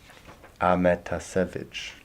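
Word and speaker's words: Ahmetašević: Ahmetasevich.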